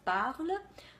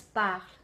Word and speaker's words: parle: There is a common mistake that I see where people pronounce, instead of parle, pronounce parle, as well as, for instance, table. Instead of table, table. Instead of livre, livre.